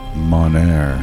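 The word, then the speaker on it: monere: We're not good at pronouncing M-O-N, Monair.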